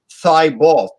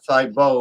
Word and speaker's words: Thibault: The maitre d' for Grey Goose is Francois Thibault or Thibault or however you pronounce it. Thibault, like that football player that used to pray in the middle of the field.